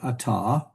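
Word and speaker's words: אַתָּה: So if you're talking to a man and you want to refer to him, you'd say ata, that's you, singular to a man.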